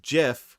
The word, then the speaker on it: GIF: in his rfc that it's pronounced jiff with a soft g which he did say